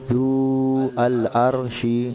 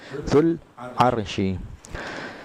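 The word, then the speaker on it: ذو العرش: Jadi zul arsy itu kan zu al-arsy, ini keliru. Jadi bacanya langsung disambung zul arsy.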